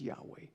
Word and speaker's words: Yahweh: When it came to write the word, the name of the Lord, YHWH, that word that we pronounce as Yahweh, they would stop and